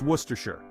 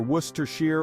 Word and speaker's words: Worcestershire: as in the sauce now this one has two acceptable pronunciations depending on where you are in the world you can say either wer Shear or Worcester Shire both are perfectly acceptable so don't stress too